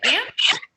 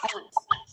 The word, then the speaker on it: aunt: and some people say aunt some people say art in english both pronunciations okay so let's look